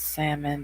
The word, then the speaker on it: salmon: reason in jersey it's salmon the l is silent okay october baby then